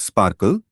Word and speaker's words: SPARQL: Sparkle pronounced Sparkle is the standard query language and protocol for linked open data on the web or for RDF triple stores.